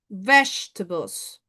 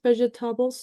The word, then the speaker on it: vegetables: Vegetables. Some people sometimes pronounce vegetables. No. Vegetables. No. Vegetables. That's the correct pronunciation.